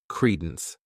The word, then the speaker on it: credence: This word has 2 syllables, and the stress is on that first syllable. Credence.